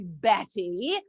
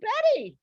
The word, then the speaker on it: Bette: it was from balzac you know cousin bat of course in balzac it's pronounced bet but my mother didn't know that she saw the book and thought it was pronounced betty she was just wrong